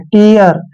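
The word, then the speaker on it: tear: क्लियर next word देखिए टी ई ए आर टी काचन ट कर रहे हैं इ को ई की मात्रा पढ़ेंगे ए को अ पढ़ना है आर को र पढ़ते हैं टियर टियर क्या होता है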